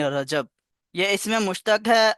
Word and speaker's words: رجب: 7واں قمری مہینہ ہے۔ اس کا تلفظ یوں صحیح ہے، را اور جیم دونوں مفتوح ہوں، یعنی رجب۔ یہ اس میں مشتق